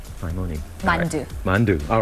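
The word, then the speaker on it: 만두: Mandu.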